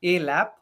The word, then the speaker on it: ALAP: so we call it a lab so if you break the word a and lap so lap is basically